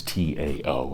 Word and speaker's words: Tao: Even though it's T-A-O, it's D-A-O in the way we pronounce it, the Tao.